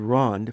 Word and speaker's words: Rond: Prairie Rond Williams evidently spelled Rond phonetically as it is pronounced without an e and means round in French Prairie Rond was the